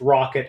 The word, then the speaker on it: ROCK.IT: Tech stakeholders I I like that it is pronounced rocket as well because I